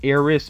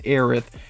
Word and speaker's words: Aerith: should do cloud also i think her name is aerith even though sometimes i see it written as eris but i think that's